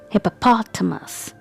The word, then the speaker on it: hippopotamus: do you say it hippopotamus hippopotamus if you say it like this then it's incorrect pration the correct pration of this animal is hippopotamus hippopo us hippopotamus so here the stresses on P okay so how will